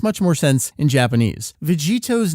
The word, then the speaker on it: Vegetto: When you combine Vegit and To from the two respective names, you get Vegetto. That's a hard double consonant sound at the end there.